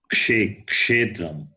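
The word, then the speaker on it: क्षेत्रम्: Kshetram, Kshetram. Kshetram, KSH. Kshetram. That K is not silent like the word knowledge. It's not knowledge. Knowledge. There the K is silent. But here K is pronounced.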